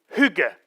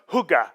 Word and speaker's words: hygge: can i and and let's get the pronunciation straight try and repeat after me who get yeah you're doing fine good because it's it's not hygge it's I it's that II sound and and and it sounds like you already prepared